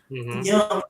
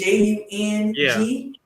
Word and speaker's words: Jung: in common is that we studied Jung, or Young, depending upon who pronounces it, but it's Jung.